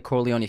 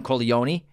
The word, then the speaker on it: Corleone: So when they're talking about Italy, the town Corleone, but then the family is called the Corleones. And it's, the American pronunciation is Corleone. And this is the Italian is Corleone.